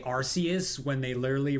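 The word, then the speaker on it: Arceus: Well, if they say Arus when they literally pronounced when they literally pronounced it Archus in like the the Pokemon presents for for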